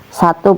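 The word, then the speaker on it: سَ: Ini tadi namanya sin diharakati fathah maka dibaca a jadi sa ini tipis ya.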